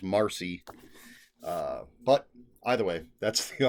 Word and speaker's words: Marsheila: I pronounced it Marsheila Rockwell. It does say in parentheticals Marcy.